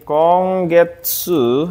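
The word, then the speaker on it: 今月: ini kanji ada yang tahu gak ini kanji konggetsu artinya bulan ini konggetsu Ini bacanya minasang konggetsu terus nomor dua ini bacanya RSU bulan depan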